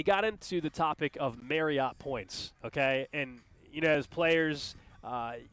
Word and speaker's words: Marriott: But they got into the topic of Marriott points, okay?